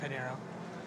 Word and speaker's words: Pinheiro: e RG and then my whole last name Panero for both Instagram and Twitter Panero can you spell that for everyone so e r g p